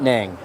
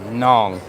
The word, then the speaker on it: Nang: And he said, "No, not Nang." Nong. Don't believe me? Back it up and listen to him. And I said, "Rimes with Hong Kong."